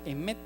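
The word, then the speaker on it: אמת: En hebreo verdad se pronuncia emet.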